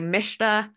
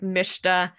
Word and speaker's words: Mshta: execution, our sub-technique MSHTA, which I like to say MISHTA, take it or leave it, it's fewer syllables, much more efficient to say. That's our sub-technique MISHTA.